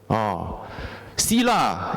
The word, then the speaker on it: Sila: Sila, S-I-L-A, technically is a Pali term. But in Sanskrit, they spell it as S-H-I-L-A, Shila.